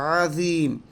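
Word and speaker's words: عظيم: এখানে আমরা পড়ার সময় প্রায় একটা ভুল করে থাকি, আমরা এটাকে আজিম বলি। আমরা আজিম বলি, আসলে আজিম না, এটা হচ্ছে আজিম। জিম নয়, জিম, ও সুবহানা রব্বিয়াল আযীম, সুবহানা রব্বিয়াল আযীম।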